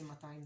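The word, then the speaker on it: מאתיים: Not really ma'atayim, but it's more like ma'atayim instead of matayim. So the first, in regular Hebrew, the first vowel is short, but in Jerusalem we lengthen it a little bit, ma'atayim, because of that aleph over there.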